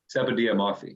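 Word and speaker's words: Sepideh Moafi: How do you pronounce her name? Sepideh Moffey.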